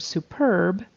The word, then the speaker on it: superb: there but the word superb is with the accent on the second syllable and the word North